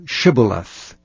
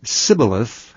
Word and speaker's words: Shibboleth: If he said, "Nay," then said they unto him, "Say now Shibboleth." And he said, "Sibboleth," for he could not frame to pronounce it right.